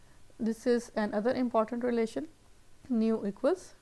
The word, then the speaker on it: nu: इसको बोलते हैं nu, N-U, nu. First one was mu, pronounce कर रहे थे mu, mu.